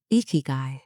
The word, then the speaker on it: ikigai: Ikigai, pronounced ikigai, is spelled with two characters.